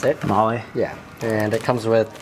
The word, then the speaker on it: Mahle: So the filter that we use is Mahle. That's how you pronounce it. Mahle?